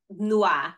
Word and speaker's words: tnuá: And this, like when I say, for example, Noir, right?